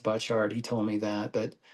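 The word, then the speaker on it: Butchart: And, uh, I'm going to talk about Harvey Butcher, who his name is pronounced Butchard.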